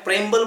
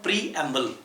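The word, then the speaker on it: preamble: कुछ लोग इसे मैंने देखे हैं प्रेम्बल बोलते हैं, इसका प्रोनाउंसिएशन प्रेम्बल। तो पहले तो वर्ड का प्रोनाउंसिएशन आप सही कीजिए। इस वर्ड का प्रोनाउंसिएशन है प्रीएम्बल।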